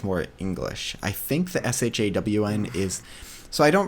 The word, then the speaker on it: Shawn: so I'm not angry about it like it's s ha a w n for those who are curious